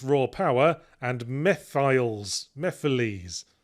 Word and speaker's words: Mephiles: I presumed it was pronounced would be pronounced mephles because it's sort of a shortening of mephistophles. But then I remembered out of nowhere a cutscene from Sonic 2006 where they kept pronouncing it as Mephiles.